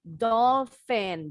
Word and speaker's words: dolphin: Bukan phone or the animal dolphin.